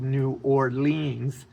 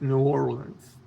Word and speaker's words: New Orleans: already got on to me because I said New Orleans. And she, well, let's get this straight. First off, it's it's pronounced New Orleans.